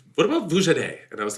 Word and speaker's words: Vujaday: Vujade. How do you spell that? Vujaday, it's VUJADAY.